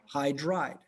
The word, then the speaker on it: hydride: hydrogen either hunt more it's hydride hydride okay hydride like high and dry it ends with the